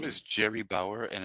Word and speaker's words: Gerie: So her name is Jerry Bauer, and it's spelled Gerie.